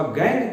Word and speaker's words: gangue: गैंग को spelling में हम लोग GANGUE कहते हैं। गैंग प्रोनाउंसिएशन गैंग ही है।